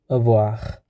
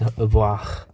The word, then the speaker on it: avoir: Okay, here we take some most common used verb, like avoir, because it's R, so these letters should be pronounced even if it just located in the end of the word. So it's avoir.